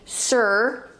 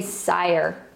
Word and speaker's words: sire: We don't say sir, we say sire.